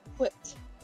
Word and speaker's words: whipped: Whipped. I can't do a Stewie impression. I can't do a Stewie impression, but I can say whipped cream. Whipped. Just pronounce the H before the W.